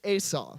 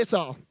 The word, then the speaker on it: Esau: Now, it's actually pronounced, I'm really picky about how I pronounce people's names because I don't want to be rude. So his name is actually Esau. Okay, so everyone say Esau.